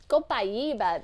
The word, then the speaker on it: copaiba: Sarah says, "Why do some people say copaiba?" Copaiba. That's how it would kind of be pronounced like in Spanish.